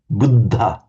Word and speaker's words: Buddha: That was dental. Um, but just the little aspir sound coming out after it. Buddha.